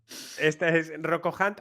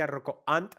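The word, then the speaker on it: Rocco Hunt: This is Rocko Hunt or as they say in Italy, Rocko Ant, because they don't know how to pronounce the H in English.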